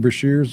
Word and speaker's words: Brashears: Brashears, or is that how you pronounce his name? Brashears, or yeah, that's right.